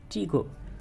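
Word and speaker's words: tricot: কি pillar chain pillar অথবা chain stitch তারপরে ট্রিকো টয় টি এর উচ্চারণ হবে না ট্রিকো হ্যাঁ ট্রিকো কর্ড আর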